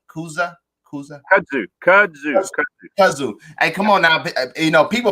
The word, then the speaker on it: Kudzu: a cigar aficionado rating was the Kuzda. Did I say it right? Kuzda. Kudzu.